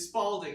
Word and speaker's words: Spalding: burst and I think it rhymes with malding it's Spalding it's the brand baby